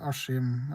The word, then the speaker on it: Askim: We say Askim. Askim. Even though it's written Askim.